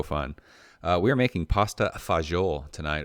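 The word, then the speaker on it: pasta fagioli: uh we are making pasta fagiol tonight or as us white kids from california call it pasta fazool i don't actually i'm not sure where that um pronunciation came from but pasta fazel is what my grandfather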